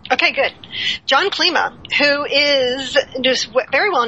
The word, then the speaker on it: Klima: esso moses sirigar and a special guest john klima that is how you pronounce it right correct okay good john klima who is just very well known in the